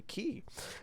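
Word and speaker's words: Chi: Yep, that's pronounced Kai. You're not dying. I mean, it's Koine Greek. Nobody really knows how it's pronounced, but that's the accepted pronunciation. If you ask a Japanese person how to pronounce that Greek letter, they'll say Key.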